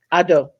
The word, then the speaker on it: Akufo-Addo: want to pronounce his name correctly, President Nana Akufo-Addo. I probably just butchered that. Addo.